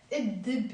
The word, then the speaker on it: الدب: We don't pronounce the lam.